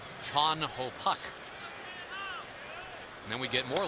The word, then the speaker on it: Chan Ho: one actually because theoretically it should be chun ho park but uh when you talk to chan ho about it he's very comfortable with the americanization of it and he says if you want to get it completely right it would be chon ho and then we